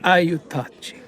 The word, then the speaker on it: Aiutaci: Aiutaci. Matteo says this with Italian inflection, accent on the second syllable.